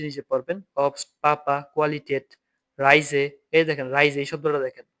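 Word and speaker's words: Reise: রাই এস এ যে রাইজে রাইজে মানে হচ্ছে ভ্রমণ এর এ আই রাই এস এজে রাইজে ভ্রমণ এইযে এস এর উচ্চারণটা কি হবে সবসময় বর্গীয় বর্গীয় জ এর মত হবে এস এর উচ্চারণটা রাইজে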